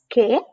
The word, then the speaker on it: que: Like in the case of the GUE and GUI, the U is not pronounced. So that's que, what, and kiosco.